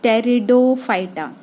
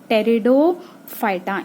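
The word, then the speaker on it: Pteridophyta: kingdom की that is टेरिडोफाइटा पीठ silent टेरिडोफाइटा इनको हम सीधे प्लांट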